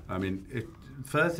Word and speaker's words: Firth: mean I mean it fth is not an easy one outside English speaking world because it sounds like a grunt particular on the phone it's a single syllable thing with kind of soft consonants and so it sounds